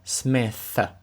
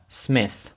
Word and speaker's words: Smith: добавляє свою фамілію Smith І там важливо в кінці помітити е дві літери t h які разом звучать як ф тобто ваш язик між зубами і ви видуваєте повітря Smith Smith I am 19 and